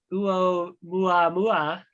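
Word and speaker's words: ʻOumuamua: Naomi, I'm going to mispronounce this. How likely is it that Oumuamua is alien tech, which was a cigar-shaped asteroid that came flying through from a different solar system?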